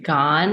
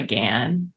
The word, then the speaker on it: Gan: and then in America I just go by Gan because it rhymes with a tan and it's a similar